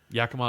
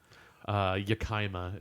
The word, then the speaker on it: Yakima: leaving North North Yakima Yakima is constantly mispronounced jicama is when I hear a lot Waterville Waterville Waterville a